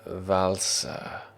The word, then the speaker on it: Valsa: It's like that common food, salsa. with a B and an ER.